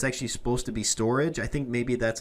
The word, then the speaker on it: Storj: language that is, but I believe that it's actually meant to be pronounced storage, or at least that's